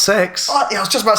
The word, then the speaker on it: CeX: him working in like Kex, but then that's me looking down on him. Kex? Yeah, man. What the fuck is Kex? Oh, CEX. Yeah, no one says Kex. No? It's pronounced sex.